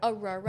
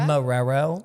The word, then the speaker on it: Marrero: So if any of my friends back home end up watching this, I'm actually from Marrero, Louisiana. I got to say that. Aurora? Marrero. Marrero? Marrero. do I spell it?